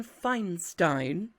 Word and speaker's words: Feinstein: All right, next up we have Your Behavior Will Be Monitored by Justin Feinstein. I'm saying Stein because the I's at the end and whichever vowel's second is what you pronounce.